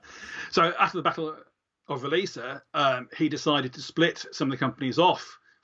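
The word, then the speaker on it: Roliça: how to pronounce it, the Battle of Releasa. I think technically, even if we want to get really technical, I think it might be Holisa, but I thought that was a step too far.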